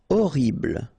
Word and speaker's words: horrible: Horrible. Okay, first letter is H, but then we don't pronounce H, so you don't pronounce it. And the first thing you hear is O.